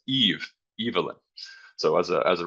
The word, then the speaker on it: Evelyn: his wife uh Evelyn um and it is pronounced Evelyn I learned by the way um we were